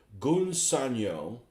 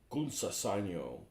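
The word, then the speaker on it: Gunze Sangyo: use, and either quote Gunsanyo, or I guess that's how you say it. It's not Gunsa Sanyo, or Mr.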